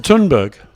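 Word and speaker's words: Thunberg: cabal of of uh tunberg or Sunbury is apparently the way you pronounce it in Swedish yeah uh being mauled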